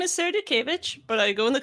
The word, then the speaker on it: Dutkiewicz: yourself please uh so my name is sarah dukeevich but i go in the community of